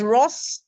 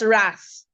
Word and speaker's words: wrath: Yes, there's wroth, not wrath.